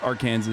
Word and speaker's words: Arkansas: Don't say it like that. No, I will never say it the incorrect way. It's Arkansas.